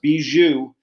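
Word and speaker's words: Bijou: Connecticut is the beu I know it's spelled BYU like a bisexual Jewish person but it's not it's beu and it's going to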